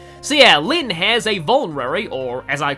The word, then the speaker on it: Vulnerary: Lyn has a Vulnerary or as I called it as a kid, a Volvanary. Uh I mispronounced a lot of item names and weapon names in this game.